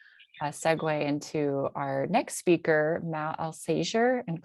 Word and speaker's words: Alsager: It's Matt Alsager. The A is silent, and it's not the first time that was closer than many get.